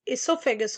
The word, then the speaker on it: oesophagus: Then, after your pharynx, there comes oesophagus. O is silent, so we can call it as esophagus also.